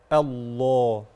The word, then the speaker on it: الله: البحر البحر البحر الله اسم الجلاله هنا اللام فيه مفخمه هكذا الله الله الذي سخر الذي